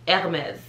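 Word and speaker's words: Hermès: she told us and it's simply hermes so if you think air and then mes the h is silent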